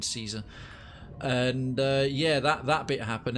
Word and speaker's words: Caesar: He wants to meet you, Caesar, or they keep calling him Kaiser and it's pronounced fucking Caesar.